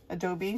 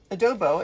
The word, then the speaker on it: adobo: and add some more adobo Adobe sorry um adobo it is adobo I am saying it right silly me to it